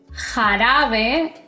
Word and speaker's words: jarabe: La J en español tiene un sonido fuerte, como si soltaras aire. por la garganta. Por ejemplo, cuando pronuncio mi nombre es y no importa qué vocal venga después, siempre es ja, je, ji, jo y ju.